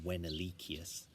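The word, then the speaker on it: Venalicius: ven alyssia's his name I'm pronouncing it Venna Lysias in in latin it would have been when Ali kiyose the name actually means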